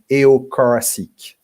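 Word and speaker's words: Aho-Corasick: code and very specifically a data structure called eocaracic which is spelled a h o and later c o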